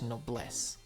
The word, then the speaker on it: Noblesse: have yet to watch noblesse and yes that's how it's pronounced because there's a swedish chocolate called that and it's damn good